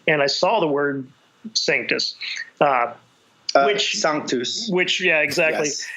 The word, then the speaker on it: Sanctus: I saw the word Sanctus Sanctus which yeah exactly I didn't know at the time that it's properly pronounced song to use you know I was